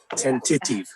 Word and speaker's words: tentative: Tentative. Tentative. Tentative. Anyone else? Tentative. You're all wrong. You're all wrong. The stress is here. Tentative. Yes, tentative. Tentative. Okay. The stress is on the initial word.